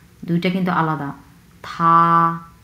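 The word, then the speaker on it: 他: হি হি আমরা কীভাবে বলবো, থা থা প্রথম টন, সো খুবই ফ্ল্যাটভাবে উচ্চারণ করব, থা থা মানে হচ্ছে সে, এটা হচ্ছে পুরুষ লিঙ্গ।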